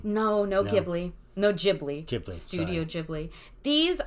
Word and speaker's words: Ghibli: What about studio, is it Ghibli? I always mispronounce the name. No, Ghibli.